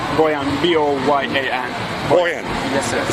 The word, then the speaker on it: Boyan: Boyan, B-O-Y-A-N.